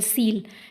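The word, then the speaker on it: coel: सील का word basically cavity के लिए होता है ना, SOEL सील, इसको सील प्रोनाउंस करेंगे।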